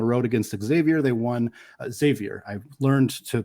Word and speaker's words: Xavier: won on the road against Xavier they won Xavier I've learned to pronounce that correctly they also won against Creighton